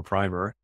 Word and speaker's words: primer: project finance primer workshop, depending upon how you like to emphasize the or how you like to pronounce the I in primer or primer, that we hosted the day before the conference.